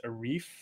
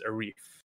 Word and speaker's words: Arief: life where i was a reef very clearly i was a wreath because when i went to school a lot of my uh teachers over here were american they couldn't pronounce rf i was on the